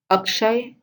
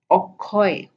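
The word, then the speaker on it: অক্ষয়: So the sh becomes k, like Akshar, Okhor, Akshay, Okhoy. Okay.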